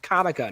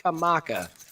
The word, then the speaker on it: Comica: I hear it pronounced so many different ways, and it is, in fact, Comica, not Kamaka.